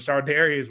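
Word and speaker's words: Charvarius: got uh we got sardius uh we got C Ward from the 49ers sardius yeah it's hard to pronounce but Shard Darius Ward from the 49ers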